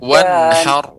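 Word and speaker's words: وانحر: Inna Wanhar. Wanhar. Jadi ra-nya kita tebalkan wanhar.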